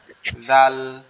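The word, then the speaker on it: ذال: এই জালটা উচ্চারণ হবে আবার আমাদের জিহ্বার আগা সামনের দুই দাঁতের আগার সঙ্গে, অর্থাৎ সা সা অক্ষরটা যেখান থেকে উচ্চারণ হয়েছে, এই জালটা ওইখান থেকে উচ্চারণ হবে।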